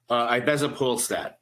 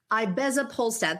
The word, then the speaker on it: ibezapolstat: How do you pronounce this? Ibezapolstat. Ibezapolstat.